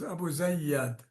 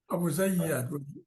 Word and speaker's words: AbuZayyad: My family name is AbuZayyad. AbuZayyad. AbuZayyad with a stress on AbuZayyad.